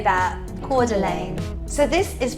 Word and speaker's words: Coeur d'Alene: that sounds lovely doesn't it let's say that Coeur d'Alene so this is pronounced Coeur d'Alene this is from another newsbreak supporter thank you